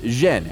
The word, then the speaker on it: Zhen: In the Beijing dialect, his surname is pronounced Zhen, and Yen is the Cantonese pronunciation.